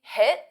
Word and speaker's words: hit: Notice I don't say hit and pronounce that T because it forces me to take a pause. Hit the. So you don't really hear the T. This is called a flap T.